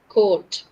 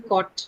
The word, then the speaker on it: coat: I'm not saying cot. I'm saying coat. Okay. Long O, right? It's a long O sound.